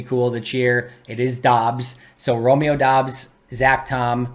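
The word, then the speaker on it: Doubs: with dubs because it sounded cooler it's not dubs although dubs would be cool to cheer it is dobbs so romeo dobbs zac tom which is a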